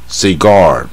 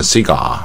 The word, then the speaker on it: cigar: ，雪茄，它第二个音节，重音在第二个音节，不要念 Cigar 啊，Cigar 啊，这个 R 是卷舌带这个半母音 R，最卷舌。Cigar 啊，那